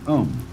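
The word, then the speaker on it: Aum: course the sound um that sound is used because if you spell it out a u m it runs from the back of your throat to your lips and therefore it contains the whole range of the voice and for that reason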